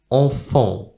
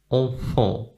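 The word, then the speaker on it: enfants: Then we also have the letter T and the letter S at the end, which is not pronounced. Enfant, enfant.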